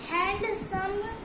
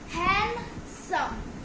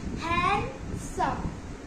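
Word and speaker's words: handsome: सो fourth word है हैंडसम, और इसको हम हैंडसम ऐसा नहीं बोलना चाहिए, कई सारे लोग ऐसे ही बोलते हैं, बट ये रॉन्ग है। इसमें डी साइलेंट रहता है, हैंडसम। इसकी सही प्रोनाउंसिएशन है हैंडसम।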